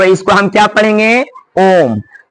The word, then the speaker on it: ओम: और इसका उच्चारण करके आप देखिए एकदम लंबा मतलब कहने का मतलब ह्रस्व स्वर से तीन गुना समय लगता है।